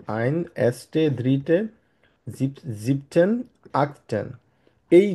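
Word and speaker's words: achtzehn: হওয়ার কথা ছিল, কিন্তু যেহেতু এখানে দুইটা টি হয়ে যায়, ওই জন্য তারা একটা টি উচ্চারণ করে, আক্টেন সিম্পলি।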